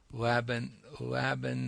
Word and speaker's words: Laban: She is skilled in Laban notation. Is that right? Did I pronounce Right?